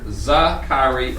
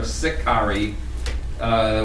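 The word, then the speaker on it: Sicarii: last one the there it's can be pronounced either za khari or sikhari we believe that they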